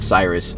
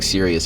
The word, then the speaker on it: Cyrus: was a freshman uh they couldn't say my name right cyrus so they ended up saying serious and they just kind